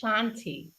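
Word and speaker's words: kshanti: Number three is Shanti and it's spelled with a K.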